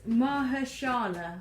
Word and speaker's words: Mahershala: How do you pronounce that name there? Oh, so it's Mahershala, I believe.